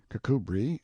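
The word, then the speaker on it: Kirkcudbright: sellers vice count berkeley of chalmundale castle warwickshire pronounced kakubri slanover marsh bank sellers vikant barkley of chumley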